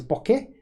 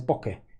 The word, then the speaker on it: bokeh: There's two ways of pronouncing it in Japanese. Now, I'm not an expert, but there is bokeh, where it goes up at the end, and there is bokeh, where it goes down at the end.